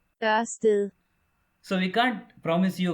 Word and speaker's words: Ørsted: damaged natural philosopher and in Danish it's pronounced yes a still so we can't promise